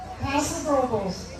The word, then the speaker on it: Paso Robles: All of you who don't live around here, this is how you say the name of this town. Paso Robles.